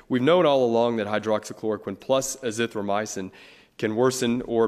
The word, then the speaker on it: hydroxychloroquine: You may have to help me with this, the pronunciation of this drug, but have doctors at your hospital prescribed the hydroxychloroquine?